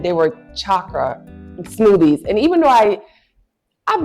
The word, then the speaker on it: chakra: So I'm gonna let Taki talk to you guys about what chakra. See, I'm even saying it wrong. It's a chakra. C-H-A-K-A. Yes. Okay. Chakra is chakra.